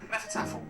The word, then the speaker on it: Hnefatafl: Next up is a very cleverly designed version of the Nordic game of Hnefatafl Viking chess. Hnefatafl, pronounced with a silent H, literally translates as fist table.